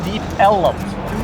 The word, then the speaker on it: Deep Ellum: So it was originally Deep Elm, and the early residents pronounced it Deep Ellum. So that was done for a number of years, took on a life of its own, and then this area was just officially renamed Deep Ellum.